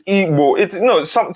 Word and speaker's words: Igbo: It's not Igbo, it's Igbo. Sometimes you can spell it as IBO, Frank Auba.